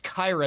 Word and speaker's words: Kyra: be on the Cassia, Kira, Kyra? I think it's Kyra is actually the pronunciation for it, is on the Medivh, Danny on the Stitches, and Secret on the Imperius.